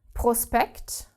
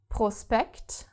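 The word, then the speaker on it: Prospekt: as inpan to play, SP is if we have it in the middle of a word, which is really not very common, but it happens like in the word prospect. prospect like in English prospect same thing then s and p are separated and therefore do not create this shp sound okay what doesn't exist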